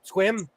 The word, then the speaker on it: Sequim: Pronounced Sequim Squim. The E is silent.